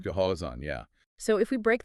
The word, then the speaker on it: 消耗: And for our beginner language learner, the pinyin for this is Xiāohào. Xiāohào, yeah. So if we break that down phonetically, the first part, Xiāohào, generally means to